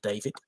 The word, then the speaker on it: D4VD: His stage name is D4VD. Apparently, it's pronounced David.